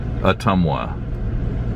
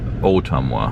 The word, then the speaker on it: Ottumwa: And I looked it up, by the way, and according to every place I found online, it's Ottumwa, not Ottumwa.